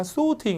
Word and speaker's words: sorting: 미국 사람들은 R 발음을 세게 발음하기 때문에 뒤에 있는 T 발음이 잘 안 들려요. 그래서 발음이 sorting보다 약간 sorting 이렇게 흘려주고요. 이게 영국 가시면 또 R 발음이 안 되고 T를 세게 하기 때문에 약간 sorting 이렇게 돼요.